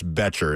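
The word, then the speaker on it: Boettcher: I believe it's Betcher is how you say it.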